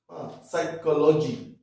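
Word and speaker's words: psychology: না তাহলে কি হচ্ছে নিউমোনিয়া হ্যাঁ পি এর উচ্চারণ আমরা করছি না নিউমোনিয়া সাইকোলজি ঠিক আছে পি এস ওয়াই সি এইচ ও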